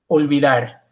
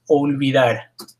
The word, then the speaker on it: olvidar: La O is olvidar. Now again, this is sometimes difficult for English speakers, but it's always O. O. Not O. Don't say a W sound, it's O. O.